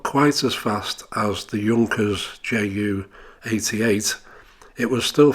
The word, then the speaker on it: Junkers: this aircraft is a junkers ju-88 but it's actually pronounced Yonkers this aircraft is twin